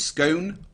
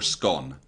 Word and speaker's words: scone: There's a big argument in Britain as to how you say scone. Is it scone or scone? Scone.